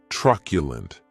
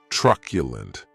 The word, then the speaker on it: truculent: The next adjective is truculent, and this word has 3 syllables, and the stress is on that first syllable.